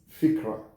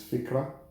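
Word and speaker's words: فكرة: believe that you got it so fikira is fikra in Arabic that is I believe that is the right pronunciation it is fikra now another word in Arabic or in SW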